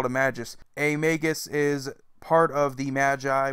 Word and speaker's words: Magus: Persia in Greece its Magus which is usually mispronounced like majus which is understandable usually